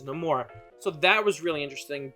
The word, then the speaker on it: Namor: uh in the movie he pronounces his name Namor and there's a reasoning behind that which you don't want to spoil because it is in the movie but you know oh we hear other people refer to him as nameor so it can go both ways but the in in Universe the correct correct pronunciation is no more so that was really